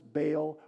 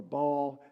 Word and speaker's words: Baal: b by the way if you pronounce this baale or ball it's fine keep it right on doing